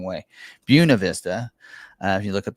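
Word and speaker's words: Buena Vista: Buuna Vista. Uh if you look at the locals, look it up. It's Buuna Vista.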